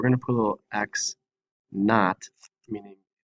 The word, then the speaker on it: x naught: I do want to make one quick point that this x with a little subscript 0 is pronounced x naught.